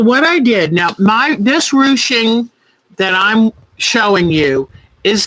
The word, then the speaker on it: ruching: All right, so this is called ruching. Let me spell it. Ruching. And it, like I said, it's a French word.